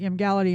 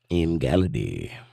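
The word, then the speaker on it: Emgality: Igality, which sounds like you're saying it wrong. I'm not. I said it sounds like you're saying it wrong. It's Mgali. Boy, good old sounds like you're saying it wrong. That's not how letters work.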